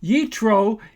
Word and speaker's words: Yitro: Yitro is the Hebrew pronunciation of the name of Moses' father-in-law, Jethro.